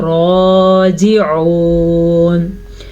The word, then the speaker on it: راجعون: راجعون را کو پر پڑھیں گے اور یہاں پہ ہم وقف کریں گے تو آخری حرف ساکن ہو جائے گا.